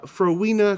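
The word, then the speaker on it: Phrowenia: that I been so busy I am a froa crew um crew I will spell it for you because it's very hard p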